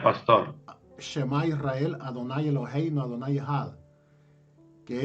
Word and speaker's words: Shema Israel: ¿Cómo se pronuncia, pastor? Shema Israel, Adonai Eloheinu, Adonai Echad.